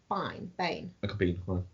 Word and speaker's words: Biehn: Bain. Michael Biehn. Huh? Bean.